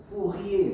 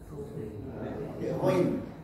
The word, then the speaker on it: Fourier: Fourier bacanya. Fourier. Bukan Fourier tapi Fourier.